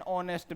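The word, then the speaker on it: honest: हाँ जी, H silent है, मतलब बोलने में आर ही बोलते हो आप, हार तो नहीं बोलते, है ना। जैसे ऐसे ही we have an ऑनेस्ट मैन, एन ऑनेस्ट, ठीक है,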